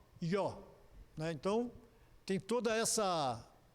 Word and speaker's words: Jó: Essa palavra, essa letra I, em hebraico, ela se atrela ao J. Por exemplo, Javé se pronuncia Iavé. Então, como Jó, Ió.